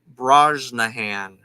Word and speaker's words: Brosnahan: can look it up to see how you pronounce her name. Rachel Brosnahan.